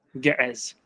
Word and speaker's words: Ge'ez: And Ethiopia, I'm not sure how I pronounce it the way I know how, which vocalizes the ayin. Yeah, so, say it again, sorry. Ge'ez. Yeah, yeah. Yeah, so. That's the more correct way, to be honest.